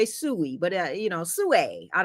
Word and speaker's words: Sui: Sue. Sue. That's how they pronounce it. Sue. All right. Some people say Sooie, but you know, Sue, I don't know.